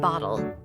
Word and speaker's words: bottle: Listen to how they pronounce the T in bottle.